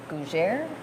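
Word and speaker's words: Gougère: with their puff pastry, which is a gougere. Rhymes with Montfrère. I was trying to Gougere?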